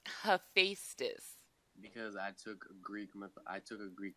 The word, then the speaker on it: Hephaestus: Yo, I legit don't know how to pronounce this name. Okay, it's Hephaestus. Hephaestus.